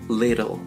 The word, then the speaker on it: little: La palabra chico o pequeño en inglés se pronuncia little. Little. Intenta pronunciar una R suave y después una L fuerte en little. Little.